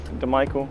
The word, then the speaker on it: DiMichele: Yeah, everyone says DiMichele, but DiMichele, and a little Italian to it, so we'll get it right, I think.